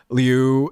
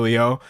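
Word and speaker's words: Liu: Someone said um like Alisa Leu is supposed to be pronounced Alisa Leo.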